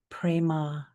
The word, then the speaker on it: prema: This mantra is aam prema. I'll spell it and then tell you its meaning.